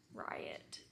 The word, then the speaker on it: Riot: his name Riot but it's spelled like Ryan with a t so like Riot I thought it was rat at first I was like why would she name someone rat Ryan is a part